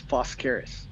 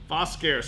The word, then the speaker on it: Foscaris: It's Foscaris. Foscaris. So just like it's spelled actually.